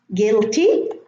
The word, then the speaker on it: guilty: Guilty, no U.